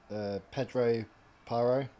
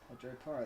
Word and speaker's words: Pedro Porro: Pedro Paro. Pedro Porro. That's the first time you said it correctly.